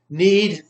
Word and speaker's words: knead: Knead, you don't pronounce the K.